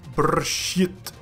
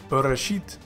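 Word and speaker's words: בְּרֵאשִׁית: video, you might think that this word is pronounced as brshit. But in this video I will show you what all of these little dots mean, so that you will know that this is actually the word brshit, which means in the beginning.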